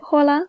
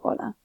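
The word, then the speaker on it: hola: always follow specific rules the H is always going to be silent so anytime you've seen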